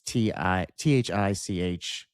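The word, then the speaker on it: Thích Quảng Đức: A Vietnamese Buddhist monk by the name of Thi Quang Duc, that's how you pronounce that. It's Thichquangduc.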